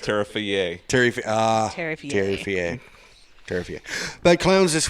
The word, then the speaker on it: Terrifier: I believe it's pronounced Terrifier.